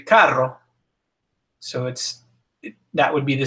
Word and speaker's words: carro: So if it's followed by what are known as the hard vowels, A, O, and U, it's pronounced like K in el carro.